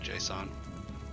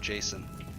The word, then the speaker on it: JSON: to name their kid JSON watch everybody try to pronounce it Jason it's not Jason it's JSON oh oh